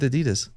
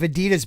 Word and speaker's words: adidas: madden's madden version of adidas he did a holiday of eddie dust if that's what you mean what the oh yeah i forgot australians they call it adidas no adidas what's happening adidas adidas yeah